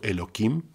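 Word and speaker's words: Elohim: duelo kim en vano escucha que estoy diciendo el loquín no estoy diciendo cómo se escribe con la h es de igual a igual manera otra forma de no pronunciar el nombre nada más pero este no es un hombre pero es una manera de decirlo no pronunciará el nombre de loki aunque no seas aunque se escucha con k se escribe con h ya dijimos antes del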